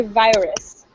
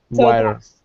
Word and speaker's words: virus: um great job reading in english we say virus virus virus the eye is a long eye so virus good okay um all